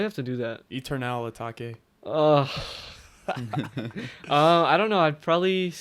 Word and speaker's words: Eternal Atake: Or Eternal Take.